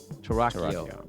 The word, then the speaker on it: Torockio: Torockio.